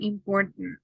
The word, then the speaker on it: important: So don't pronounce the vowels. Okay. If you had a vowel, you don't have it doesn't matter if it's letter E, letter O, letter A. The idea is to not pronounce that part. Just Biden, Baden, Garden, Manhattan, and important. It's like if you are omitting a syllable, but that's the best way to pronounce.